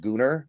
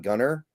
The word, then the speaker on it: Gunnar: And real quick, to the funny people in the comments, it is pronounced Gunnar. It's not Gunner because it's spelled with an A.